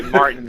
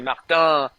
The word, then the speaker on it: Martin: didn't want to say Martin. I wanted to say Martin in French."